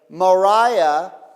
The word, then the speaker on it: Moriah: Moriah. Morah is teacher. Mora rhymes with Torah.